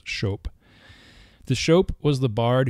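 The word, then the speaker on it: scop: that of the show when SC appears together in anglo-saxon it's pronounced the same way that Sh is pronounced in modern English shope the show was the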